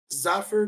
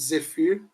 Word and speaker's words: Zephyr: Esse aí o pessoal chama de Zephyr. Zephyr, numa pronúncia do que o pessoal usa lá fora. Aqui dentro o pessoal chama de Zephyr mesmo.